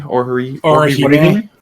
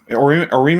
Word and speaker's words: Orihime: Yeah, Orime is Orime. Am I saying that right? Orihime.